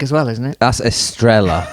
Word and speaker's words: Estrella: That's Estrella, It's or very confusing. probably, I don't know, it's pronounced Estrella.